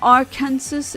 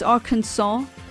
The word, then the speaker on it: Arkansas: I'm just kind of annoyed that the state called Kansas is pronounced as Kansas. And it's not Arkansas, it's Arkansas.